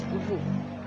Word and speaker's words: vous: Another best example for that is vous, which is a translation of you in French. If you will listen to its pronunciation, it is a silent S. It pronounces as vous.